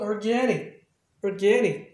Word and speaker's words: organic: 그러니까 이제 그 단모음으로 발음하겠죠. 그러니까 아까 항상 하는 얘기지만 전미사에서 생기는 액센트는 단모음을 한다. 이게 원칙이니까. 그래서 organic 이렇게 바뀌어요.